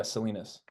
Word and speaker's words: Salinas: So The Beloved Returns is out April 4th via, you said Salinas, right? That's how you say it? Yeah, Salinas.